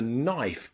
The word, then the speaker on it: knife: your English pronunciation okay try these wonderful silent k tongue twisters number one I knew the Knight had a knife behind his knee I knew the Knight had a knife behind his knee I knew the Knight had a knife behind his knee okay lots of silent k letters in there I knew the Knight